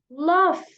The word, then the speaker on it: laugh: pronounce this word so we don't say log okay it is written log mc2 log but to pronounce it love okay we use the F it's it's the F sound at the end of the word buff okay so love means